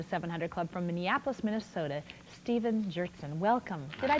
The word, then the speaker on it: Stephen Gjertson: Welcome to the 700 Club from Minneapolis, Minnesota, Stephen Gjertson. Welcome. Did I pronounce that correctly?